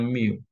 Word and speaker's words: mu: adalah rata-rata antar kedatangan 1/ Mi ya Ini bacanya Miu adalah Min lama pelayanan